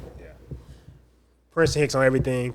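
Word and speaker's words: Prinston Hicks: Princ Hicks on everything. P R I N S T O N H I C Ks. It's not spelled like the school even though it's pronounced like the school.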